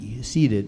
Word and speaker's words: ceded: Just if I could, as a grammarian, to your word of ceded, I spell it C-E-D-E-D, seeded. It's not seeded like I would seed wheat or something like that.